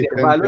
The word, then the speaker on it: intervalo: palabra grave, grave. Tiene el acento en va. Entonces va, dígale a su mamá, a su papá, a su abuelito, a sus profesores, a sus colegas del colegio, a todos. Intervalo se dice intervalo, no intervalo.